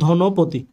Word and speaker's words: ধনপতি: যেমন আপনি দেখেন ধনপতি, আমরা ধনপতি বলি না, আমরা বলি ধনপতি।